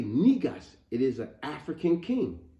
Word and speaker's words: Negus: Africa was called Ethiopia so when I say nigos it is an African king AKA Ethiopian King